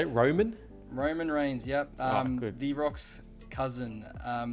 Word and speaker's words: Roman Reigns: Roman Reigns.